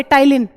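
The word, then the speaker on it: ptyalin: उसका एक नाम टाइलिन भी है बट वो तुम्हारे कोर्स में नहीं है। पी साइलेंट होता है और ऐसे लिखा जाता है। बट तुम्हें तो वही काफी है। टाइलिन पी साइलेंट है।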